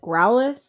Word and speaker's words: Growlithe: My favorite Pokemon is I people pronounce it differently to me every time, but I pronounce it Growlithe, the like dog lion Pokemon.